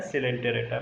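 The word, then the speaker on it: Coelenterata: इनमें थोड़ा सा डिफरेंशिएशन पाया जाता है सिलेंटेरेटा में। सर ओ ई साइलेंट है यहाँ पर, दोनों साइलेंट है, ओ और ई दोनों साइलेंट है।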